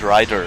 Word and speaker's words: Raider: the name of Twix in Germany in the old days they pronounce it writer which I guess is